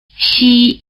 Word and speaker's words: 西: 西西西 The sound value of the letter